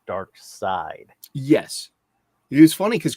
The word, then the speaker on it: Darkseid: the longest time well yeah because the way it's spelled and it's just uh maybe dark seed is it gives it a different kind of